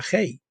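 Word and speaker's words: γῆ: los mundos habría usado la palabra griega G pronunciada gei que se refiere al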